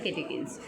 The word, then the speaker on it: catechins: यहाँ पर आपका आ जाएगा कैटेकिन्स थर्ड वाले में, CATECHINS, इसको प्रोनाउंस किया जाता है कैटेकिन्स।